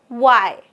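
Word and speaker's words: why: looking so sad today मी कसं म्हटलं व्हाय ला बघा मी काय म्हणते वाय ओके जरी डब्ल्यू एच वाय असेल तरी मी म्हणते वाय आणि आर जरी ए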